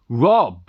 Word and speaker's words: robh: Now, Robh, R-O-B-H, he pronounced it and Rob.